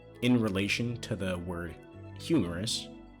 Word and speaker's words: humerus: And it also has the same pronunciation as the hahaha humerus.